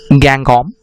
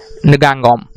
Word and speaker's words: Ngangom: s Ngong gone well there is a little bit of controversy in the pronunciation of ng ng om in North American English it is pronounced as gang calm and in British pronunciation it is pronounced as Ngong calm whatever it may be